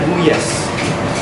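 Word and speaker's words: gulyás: Tapi L-nya tidak dibaca, bacanya Guyas.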